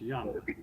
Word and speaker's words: Jung: It's pronounced Young. South Korean.